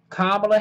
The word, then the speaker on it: Kamala: to be joe biden bernie sanders elizabeth warren kamala harris and once again the coronet the the correct pronunciation of kamala's name is kamala not kamala